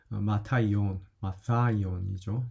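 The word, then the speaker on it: Ματθαῖον: 그래서 마타이온이죠. 정확하게 얘기하면요. th 발음이 여기 들어있으니까요.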